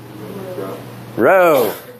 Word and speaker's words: rho: Rho. That's good. Rho.